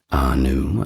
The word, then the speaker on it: Ea: We got the first two Anu and Enlil. Of course, we've already mentioned the name Enki, and that is our next deity. He's also known to the Acadians as a that is spelled E A.